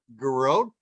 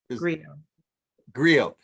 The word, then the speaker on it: griot: But she describes herself as a garrote, and am I saying it correctly? Garrote? You're muted. She said griot by bloodline and lineage.